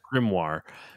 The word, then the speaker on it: Grimoire: in grimoire on Grim grimo how do you pronounce that grimoire yeah grimoire grimoire Valentine that's his father's name good it's